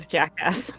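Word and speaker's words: Jakga: that guy no the jackass okay it's spelled j-a-k-g-a Jacka g is silent okay g-a Jacko I put it in our yeah but the g is silent yeah the G sure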